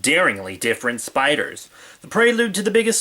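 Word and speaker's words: SP//dr: horrific turn, a radioactive spider bites a high school nerd who's already something of a monster, then what or who is the incredible SP-DR? I just pronounced it Spider.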